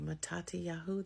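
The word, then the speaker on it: מתתיהו: And then when you look at Matthew, Matati Yahu, that's how it's actually pronounced.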